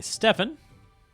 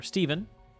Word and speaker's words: Stefan: Okay, Stefan. Or Stephen. I've heard it pronounced both ways.